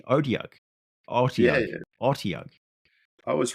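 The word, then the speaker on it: Otyugh: I've been pronouncing it wrong all these years. I've been saying Otiug, but it's actually Odiarch.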